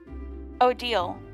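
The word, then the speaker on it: Odile: looking at what the shop has to offer o deal that's how her name is pronounced can I help you with anything yeah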